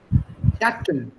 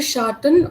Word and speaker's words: chatten: Chatten. Ich habe gestern mit meiner Tochter gechattet. So Schatten or Chetan? Chatten. Chatten means shadow. So you can't mispronounce it that way.